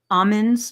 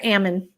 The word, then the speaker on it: Amen: um one of um Almond's books I guess did I say it right almond yeah Dr Ammon like Ammon Ammon yeah amen amen Dr amen so Raina says she